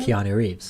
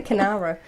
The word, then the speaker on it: Keanu Reeves: Keanu Reeves. There we go. I always say Canara. There's not even an R in there.